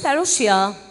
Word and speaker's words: parousia: முதலாவது பரோஷியா பரம என்ன பரோஷியா first one is parousia p a r o u s i a parousia parousia this is how the word parousia